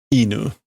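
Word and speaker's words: 去ぬ: So normally it would be pronounced sadu. It has an archaic pronunciation, which means inu.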